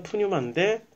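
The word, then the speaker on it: πνεῦμα: 요게 A고 요게 이제 T고, 그 거의 영어의 그 알파벳이 헬라어에서 많이 가져왔기 때문에, 그래서 요걸 N으로 읽으면 푸, 뉴, 마.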